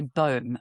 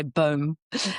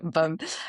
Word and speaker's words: baume: So what is the famous, I'm going to say balm, because every time I say baume, my children criticize my pronunciation, but you can say baume in French, baume.